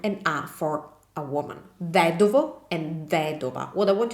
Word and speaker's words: vedovo: So the stress doesn't follow on the second to last vowel, but follows on the third to last vowel, which is the I.